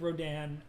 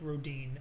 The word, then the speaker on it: Rodin: Oh, by the way, some people do pronounce it Rodin. Some people do pronounce it Rodin. Both are right. But some people prefer one or the other.